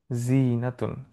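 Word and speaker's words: زينة: বিস্তারিত বলছি শব্দটা নিয়ে জিনা মানে হচ্ছে সৌন্দর্য জিনাতুন জিনাতুন এখানে দেখেন টানটা কিন্তু যার পরে হবে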